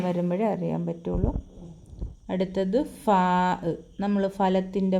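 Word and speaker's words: فاء: ശബ്ദം എടുത്താണ് ആന് ഇത് ആന് എന്ന് പറയും ആന് ഉച്ചാരണം ശബ്ദം വരുമ്പോഴേ അറിയാൻ പറ്റുുള്ളൂ അടുത്ത അടുത്തത് ഫാ നമ്മൾ ഫലത്തിന്റെ ഫ എഴുതത്തില്ലേ ആ ഫാ അടുത്തത് കാഫ്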